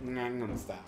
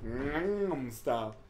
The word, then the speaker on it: Gangnam Style: It's like that song Gangnam Style, and they're like, you're saying it wrong. It's Gangnam Style. And then, like, you gotta swallow the G's, the A's, and the M's. Like, Gangnam Style. Nailed it.